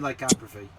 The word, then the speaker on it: lycanthropy: It's the pronunciation I'm unsure of, but I also don't think I'm pronouncing it right either. No, you're not. It's definitely lycanthropy.